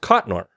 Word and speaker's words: Cotnoir: You know, in the in the pre-show preamble, I forgot to ask, is your last name pronounced Cottonor? Cot. You nailed it.